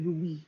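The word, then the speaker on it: rouille: baguette and with a rui this one the sauce here on top of um the soup thick that's actually a rui so arubi is spelled as r o u i double l e so this is a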